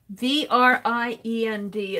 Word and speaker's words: vriend: V-R-I-E-N-D is friend. Yay! Well, see, I'm learning stuff in Dutch. Is friend. Cool. A hard V.